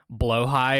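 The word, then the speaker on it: Blåhaj: there's a reason why I don't even pronounce it like bloh high or whatever is how you actually pronounce blahaj cuz I just I've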